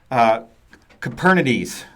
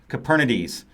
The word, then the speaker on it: Kubernetes: of our engineers Liz she likes to pronounce kubernetes as caperna DS like Copernicus caperna DS so from now on